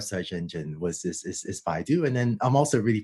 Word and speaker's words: Baidu: teams at google and is it is it pronounced baidu forgive me for not knowing oh yes i i started led the google brain team i also ran ai for baidu which was launched with search engine uh company